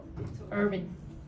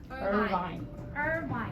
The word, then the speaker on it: Irvine: the word actor Emily what did you say Urban and what should it be Irvine is a very famous